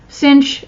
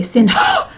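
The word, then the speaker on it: sinh: and hyperbolic secant but usually those are shortened and cinch is kind of a funny thing because there's not a CH at the end and we don't just say sin ho or anything like that so it's just cinch all right so we're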